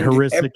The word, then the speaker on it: Hrycyk: And Heuristic is spelled HRYCYK.